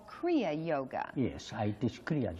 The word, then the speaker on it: Kriya: I'm telling now that in Kriya there is two syllables, Kri and Ya.